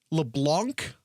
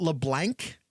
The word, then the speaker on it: LeBlanc: LeBlanc, not LeBlanc. Yeah, you're probably right. Demarion. Oh, you're saying I'm pronouncing it wrong.